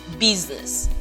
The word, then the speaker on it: business: the transcription business business this is voice consonant sound okay even though it is represented by the letter s yeah even though it's represented by letter s yeah it is business business okay good so